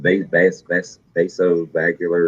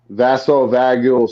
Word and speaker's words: vasovagal: I can pronounce it. Vasovagular or something. Yeah, it's It's got to do with the vagus nerve. vasovagal syncope.